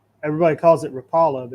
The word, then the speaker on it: Rapala: a floating it's actually rapala. Everybody calls it rapala, but it's actually rapala. It is. It's a Swedish company. It's pronounced rapala.